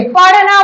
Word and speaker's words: पढ़ना: तो ढ का उच्चारण क्या है, र, यानी पढ़ने जाओ, पढ़ने जाओ, अर्थात छिपते हुए र का उच्चारण होता है।